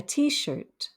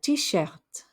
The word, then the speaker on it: t-shirt: skirt a t-shirt a t-shirt now notice the french wouldn't typically pronounce the t at the end of a word but because it's actually an english word the french do pronounce that final t antisert a men's dress